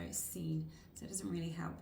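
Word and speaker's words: Seine: and I will find the color is scene and that's spelled s e i n e so scene so it doesn't really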